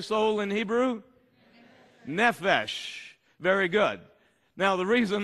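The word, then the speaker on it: נפש: to understand this topic the hebrew word is nefesh say it with me how do you say soul in hebrew nephesh very good now the reason that's important for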